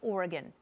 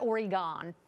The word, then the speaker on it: Oregon: there welcome back an Oregon family and it's pronounced Oregon it's not Oregon uh they were forced off United Airlines flight